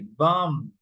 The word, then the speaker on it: bomb: So for example, you say bomb climb. Okay? You pronounce until the m in this case. Bomb climb come. Bomb climb come. In this one you don't pronounce the b.